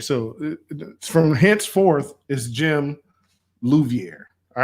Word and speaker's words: Louviere: i-e-r-e and mine is luviere spelled i-e-r-e just like mr select so louviere luviere luviere correct all right y'all